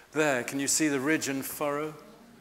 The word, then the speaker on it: ridge and furrow: And yet, there, can you see the ridge and furrow? Rig and furrow. That's how a farmer here pronounced it to me.